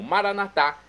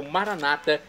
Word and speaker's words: maranata: E agora eu clamo maranatá, como dizemos nós católicos, ou maranata, como dizem nossos irmãos separados, os evangélicos ou protestantes. Não importa, a pronúncia, o significado é o mesmo.